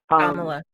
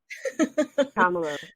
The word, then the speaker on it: Kamala: And so, yes, we do need to talk about Kamala's, I always say her name wrong. Kamala. Kamala.